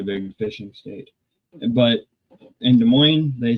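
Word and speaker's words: Des Moines: But in De Moines, they say visit De Moines. Skate De Moines. The S's are silent.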